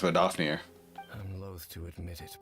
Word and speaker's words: Vedrfolnir: Pronounced Vedrfolnir.